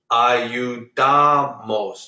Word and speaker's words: ayudamos: Ayudamos. Do you hear how I say ayudamos? Ayudamos. I didn't say ayudamos. I said ayudamos. You put the stress on the second to last syllable.